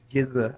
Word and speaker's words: Giza: Rizza said something to Giza I it's giz but it's spelled Giza so Giza that Miranda couldn't quite